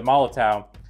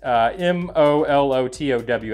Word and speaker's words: Molotow: spray it with the malla towel and I think that's how you say it it's em Olo towa I think a smaller towel but we'll spray it